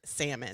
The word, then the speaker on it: salmon: But I used to say salmon to my ex-husband lovingly. I did. The Hispanic in me said salmon. It's spelled like that, motherfucker. And one day he, in his so sweetest way, said, "You dumbass, it's salmon." Salmon.